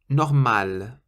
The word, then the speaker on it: normal: And normal. Normal means normal, and you pronounce the L on the end.